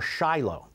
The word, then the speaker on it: Shiloh: talked about it before Shiloh it's Shilo spelled like Shiloh sheilo where the various Jewish